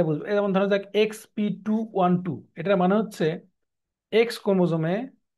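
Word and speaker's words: petit: আমরা দেখাই তাহলে বুঝবে যেমন ধরা যাক এক্স পিটওট এটার মানে হচ্ছে এক্স ক্রোমোজোমে পি মানে শর্টটারম এটা কি বলছি যে শর্টটারম ক্রোমোজোমকে বোঝানো হয় পি দিয়ে পিছে পেটিট বা পেটি উচ্চারণটা পেটিযে আমরা অনেক সময় দেখবেন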